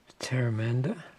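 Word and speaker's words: Pteramander: pray upon murmuring Mystic teranda that's a silent p in case it's just teranda U prying eyes quench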